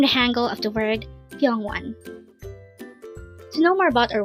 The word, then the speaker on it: 병원: here at dangle we're going to learn about pong onean let's start learn Korean one word at a time only here at the hangle word number 367 pong one pong one this is pronounced as a two